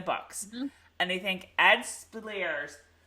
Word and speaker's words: Speleers: and they think ed Speleers you say his name Speleers Speleers spiel ear well it is now